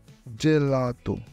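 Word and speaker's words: gelato: হয় উদাহরণ গাত্ত গাত্ত যদি জি এর পরে ই বা এ থাকে তখন এটি জ এর মত উচ্চারণ হয় জেলাতু জেলাতু আক্কা এই অক্ষরটি ইতালিয়ান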